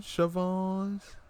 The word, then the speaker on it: Siobhan: It's the way it is spelt. I'm not a great speller. I never did any spelling bees. It was like CHIVON, Siobhan. That's the first time I seen it spelled like that.